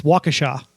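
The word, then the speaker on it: Waukesha: JJ Watt is from how do you pronounce that uh wakisha wakisha Wisconsin so there's that no no it's called w it's wakaa oh Troy messing with me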